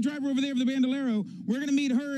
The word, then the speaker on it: Bandolero: different kind of card here that I can pronounce the bandalero bandalero it's a bandalero and the leg these are the two things